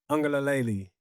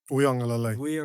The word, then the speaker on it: Uiagalelei: We got a very special guest in the house right now, no one other than Matayo Uiagalelei. Did I get that right? Uiagalelei.